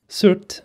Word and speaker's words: Surt: surt which is how you say it here surt if we're gonna be grammatically correct is the